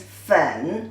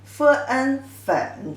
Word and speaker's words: 粉: Together, the pronunciation is 粉, 粉, third tone.